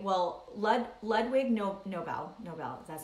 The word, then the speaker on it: Nobel: Nobel Peace Prize right well Lud Ludwig no Nobel Nobel that's how you pronounce it love Ludwig Nobel he passed away